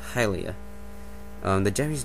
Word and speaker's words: Hylia: really see any it to make any sense pronounce halia or something it i i'm pretty sure it's hylia um the japanese name is it and same